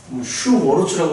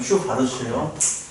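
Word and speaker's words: Schwarz: 이게 W라서 왠지 슈바르츠가 아닌 것 같지만 슈바르츠야. 슈워르츠라고 읽고 싶지만 슈바르츠예요. 슈바르츠.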